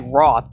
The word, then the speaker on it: Rauth: what that's what we always say so it's pronounced ray ray raw ray Roth all right perfect all right and you are